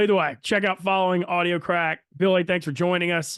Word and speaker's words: Audio Craic: It's spelled audio CRAIC. So Audio Crack, but it's spelled differently than crack cocaine. It's CRAIC.